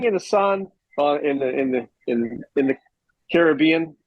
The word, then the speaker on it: Caribbean: sitting in the sun in the Caribbean. It's not Caribbean, right? It's Caribbean. How do you say Sure. it? Well, what's Pirates, the movie called? Pirates of the Caribbean. Right, it's the Caribbean.